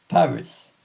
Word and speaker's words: Paris: Aside that I was visiting two times France Paris and last year exceptionally I was taking a trip to Nim n i m e s nimh and Paris in English is par in French.